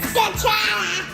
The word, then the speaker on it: scacciata: Say it like real Italian, like Scacciata.